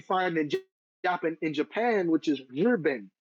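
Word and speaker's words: 日本: in Japan, which is Rben. It's the same kanji Nihon, but obviously the pronunciation is different in Chinese. Rben.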